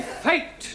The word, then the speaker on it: fate: But if we add an E to the end of fat, then what do we have? Fatty. No. Giovani fate.